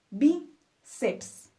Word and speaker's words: bíceps: como forceps o bíceps terminan en PS entonces acentuamos nuestra penúltima sílaba forceps biceps fácil no finalmente nuestra quinta